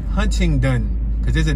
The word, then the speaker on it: Huntington: on 28th and huntington huntington hunting done that's how it's spelled it just it sounds so foreign to me even though i've been looking at huntington since i was a kid but you hear how i said it huntington huntington we're not